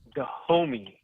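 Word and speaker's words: Dahomey: is the name of the country I can't pronounce it it's the the kingdom of the homie d-a-h-o-m-e-y yeah the homie oh okay so so is Damon Wayans in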